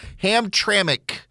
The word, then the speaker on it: Hamtramck: got all these emails ham traic Hamtramck Michigan that's the way you pronounce the name they're all like one